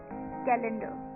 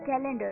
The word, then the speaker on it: calendar: तो दोस्तों द 12th सेट for this evening is कैलेंडर, CALENDER, कैलेंडर, CALENDER, कैलेंडर।